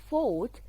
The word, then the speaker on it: fought: fought a killer shark fought we have two silent letters g and h are silent letter so i fought fort manaha i fought